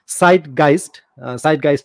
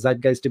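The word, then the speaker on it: Zeitgeist: বলতেছিলেন, কিন্তু এটার মানে জার্মান উচ্চারণ হচ্ছে সাইটগাইস্ট হবে উচ্চারণটা, জার্মান উচ্চারণ, কিন্তু আপনারা ইংরেজিতে আসলে জাইটগাইস্টই বলতে পারেন।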